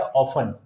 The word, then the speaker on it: often: जैसे कि ये है ऑफन, ऑफन मीन्स होता है अक्सर, तो ऑफन की स्पेलिंग होती है OFTEN।